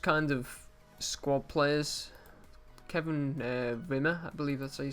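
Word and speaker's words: Wimmer: of squad players Kevin winner believe it so you say his name I believe that w's actually said like a bee and Josh ball I'm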